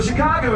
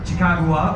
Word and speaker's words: Chicago: So, taken together, Chicagoa, or as the French would come to pronounce it, Chicago, roughly translates to River of the Stinky Wild Onion, or yeah, right?